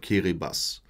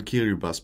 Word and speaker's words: Kiribati: And the official name of the country is Republic of Kiribati. It's pronounced that way, although it's written Kiribati.